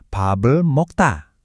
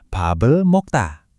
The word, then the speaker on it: 밥을 먹다: Ungkapan yang umum untuk makan adalah 밥을 먹다. Dengerin lagi ya, 밥을 먹다. Sekali lagi, 밥을 먹다.